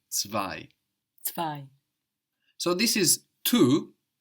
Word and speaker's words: zwei: Number two in German is zwei, Zwei. zwei. Zwei is spelled Z, W, E, I. We've already seen how the Z in German is pronounced ts, ts.